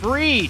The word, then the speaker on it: Fried: bit of chicken fried it's pronounced freed spelled fried as Max goes for the Yanks in the fourth. It's a Raleigh rally. Cal plates one for Seattle. That's all they'd get off a freed.